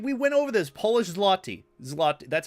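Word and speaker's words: złoty: polish oh right we went over this polish zotti zot that's how you pronounce it zotty thank you for the 10 polish zotty and thank you C Avengers for another 999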